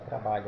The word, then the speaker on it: trabalho: aqui tra balho ó Observe que quando eu falo a palavra trabalho a sílaba tônica vai ser essa daqui ó veja lá trabalho então a exemplo de cidade a sílaba tônica não é a última é a penúltima então trabalho próxima palavra